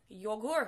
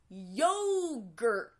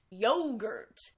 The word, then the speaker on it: yogurt: pronounce this word is yogurt yogurt it's really important to get the vowel sound and to completely make each sound yogurt and of course the stress on the first syllable really strong second from Galen is